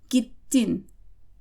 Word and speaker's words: gittin: Please keep in mind that you have to pronounce both consonants in Turkish. So this kind of sounds like you're stopping over the consonant, and that's because you're taking the time to pronounce both of them. Sometimes words can carry different meanings if you don't pronounce both, so keep that in mind.